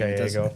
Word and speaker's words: Gallego: How are you pronounce his name? Gallego.